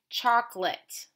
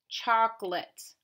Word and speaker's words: chocolate: word Bahnson that's right chocolate belongs in our schwa because the a te is making the it sound make sure you write